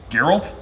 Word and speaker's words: Geralt: not play The Witcher yeah Gerald gerald girl Geralt this isn't a trick is it is that